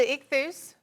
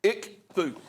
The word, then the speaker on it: ichthus: And it's got the, pronounce that for me. That's the ichthus. Ichthus.